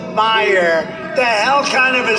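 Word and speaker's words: Meijer: A guy who spells his name M-E-I-J-E-R, but they pronounce it Meyer. The hell kind of a spelling is that? Meyer. Meisher. It's Meisher, but it's actually pronounced Meyer.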